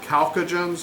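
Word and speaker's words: chalcogens: Uh Calcoagens is the third one. The ch gets pronounced like a K.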